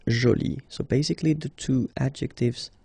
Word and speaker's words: jolie: you can see that you put this uh but then you don't pronounce it okay so it's Jolie so basically the two